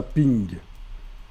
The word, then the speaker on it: PNG: Alors, Horse PNG, mais en réalité on prononce ça ping. C'est le format ping.